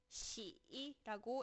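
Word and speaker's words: 喜: 이 희자는 한자로는 기쁠 희라고 하고 중국어로는 시이라고 읽습니다.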